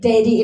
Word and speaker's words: Dedy: Kalau eh Dedy kan tulisannya D E di I ya. Cuman kan kalau secara pronunciation itu kayak daddy in English kan.